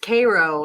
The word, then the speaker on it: Cairo: Yeah, it's pronounced Cairo in Illinois. Like the syrup.